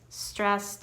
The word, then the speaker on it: stressed: And the first one comes from the phrase stressed out. This is also a phrasal verb because you're combining the two words together, stressed out. Notice how I pronounce the ED of stressed. It sounds like a T.